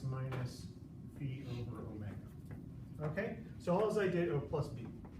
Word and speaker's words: phi: Y equals A sine of omega x minus phi plus b. So this little squiggly here is a Greek letter. The Greek letter combination in English would be ph, foot. So it's pronounced phi or phi, okay?